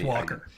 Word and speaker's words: Walker: Is it Waller or Walter or Walker? It's Walker. Okay, this movie.